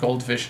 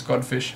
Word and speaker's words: Godfish: And yes, I've been saying his name wrong. It's not Goldfish, it's Godfish.